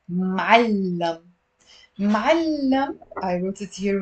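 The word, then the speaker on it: معلّم: So it's ma'allam. It's two syllables. It's not ma'allam. It's ma'allam.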